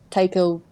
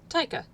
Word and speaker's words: Taika: like the small individual big names that like taiko white question mark might be mingling i am probably mispronouncing their uh his name taika uh yeah taika but like they're like the